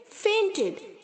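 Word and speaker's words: feint: face फेमिंग पेंट इट फेंटेड यहां पर भी जो आई है यह साइलेंट है बच्चों इसे हम सिर्फ फीट की तरह ही साउंड करेंगे ओके पेंट फेंट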